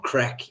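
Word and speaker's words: craic: I always thought it's pronounced crack in or Crec in Munster.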